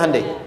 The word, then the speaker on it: Hyundai: bikin Honda sini Hyundai Hyundai kan dibacanya hundai ya kan sana Honda